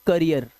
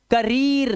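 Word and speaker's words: career: यह इसे पढ़ते हैं करियर। करी करियर। ऐसे पढ़ो इसे। करियर। ठीक है? This is engineer. इजी करीर नहीं है ये। करियर है क्योंकि डबल ई के बाद आर आया हुआ है। इसे चीर नहीं पढ़ सकते आप। गलत पढ़ लोगे आप। इसे चीर पढ़ोगे तो।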